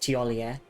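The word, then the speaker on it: Thiollier: Yeah, I don't think you pronounce the R. It's just Tier. You start with the E kind of sound.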